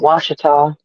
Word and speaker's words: Ouachita: this wrong, but the how's that pronounced? The Ouachita? Is that right, or am I saying it wrong? Washita, Ouachita yes.